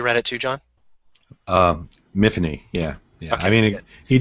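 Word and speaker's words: Myfanwy: main character's name sorry miany yeah because because it said that it was like Tiffany it rhymed with Tiffany because Welsh right is that how you read it too John um mhany yeah yeah I mean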